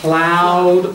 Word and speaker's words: ploughed: The young man ploughed on. That GH is silent. Isn't it? Ploughed, it's like night.